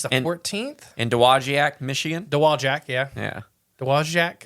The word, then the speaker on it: Dowagiac: In Dowagiac, Michigan. Dowagiac, yeah. Yeah. Dowagiac? I think it's Dowagiac. Dowagiac. I don't think you pronounce the W.